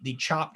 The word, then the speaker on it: Tchoup: I've mentioned this one before, but I really, if you follow the Chop Instagram, it's spelled TCHOUP. Yeah, like Chopatoulos.